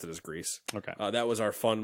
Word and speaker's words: Gris: remember which which way they pronounced it so he pronounced a grease because he said no it's not geese pakka yeah the Muppets